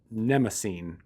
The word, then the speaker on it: Mnemosyne: That is a, I'm probably going to butcher the name, Mnemosyne. It's Mnemosyne.